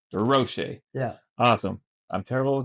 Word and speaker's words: Durocher: Durocher. Durocher.